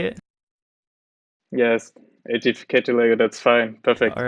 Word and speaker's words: Aedificator: Yes, Aedificator Lego, that's fine.